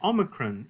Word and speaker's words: Omicron: But you don't necessarily want to pronounce this like that long O we're used to, O, but like what we call a short O. In fact, even the name Omicron in Greek is meaningful.